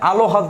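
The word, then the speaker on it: আহ্লাদ: আল, দেখেন উচ্চারণটা আপনি আলো হাদ তো না, উচ্চারণটা কি, আল ফিক্সড, আলহাদ, এই হচ্ছে আলহাদ ফিক্সড, হসন্ত দিতে হবে, ঠিক আছে?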